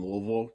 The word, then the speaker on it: Louisville: born and raised in louisville kentucky that's how you say it if you if you say more than like one syllable you've said it wrong so um yeah they